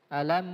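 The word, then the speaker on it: أَلَمْ: ke hukum izhar syafawi tentu huruf mim harus dibaca jelas tidak boleh disamarkan alam sempurna Oke sekarang kita praktekan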